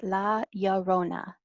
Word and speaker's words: La Llorona: So the way that you say her name is La Llorona, and it translates to the weeping woman.